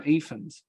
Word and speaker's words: Ifans: How do you pronounce his last name? Ifans, yeah.